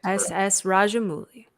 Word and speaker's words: Rajamouli: I'm not going to butcher this man's name, so if anybody can pronounce the director for RRR, please say it. S.S. Rajamouli.